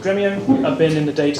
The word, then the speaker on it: Dremio: So Dremio, it's pronounced Dremio, no emphasis, no long E, like dress. Me-o, this is our mascot.